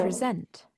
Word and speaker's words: present: this is the verb present, so the stress is on the second syllable syllable present. The noun present has stress on the first syllable.